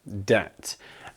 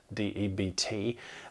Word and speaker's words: debt: you owe some money debt uh it is spelled with a B deput d-e-b-t but it's not pronounced with a with a B it's debt and this one actually